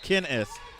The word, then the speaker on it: Kinnis: It's not E-E. Kinnis.